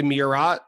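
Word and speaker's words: Murat: Theater in kalamazo I I got corrected on this one I think it's the mirat amphitheater I think I pronounced it wrong in an earlier episode uh that's in Indianapolis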